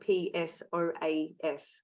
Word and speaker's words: psoas: And it's spelled P-S-O-A-S, psoas, so silent P.